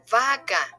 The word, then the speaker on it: vaca: The letters B and V both sound like a B as in boy. For example, bueno, vaca.